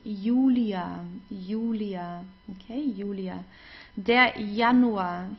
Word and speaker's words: Julia: and then we have the J which is pronounced like the English y so it's not Julia like in English it's Julia Julia okay Julia de